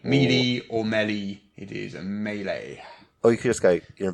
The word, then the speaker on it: melee: English word medley but don't call it Mele Malay or melee melee didn't up well they legs handle mealy-mouthed yeah as a meanie or many use a melee oh you can skate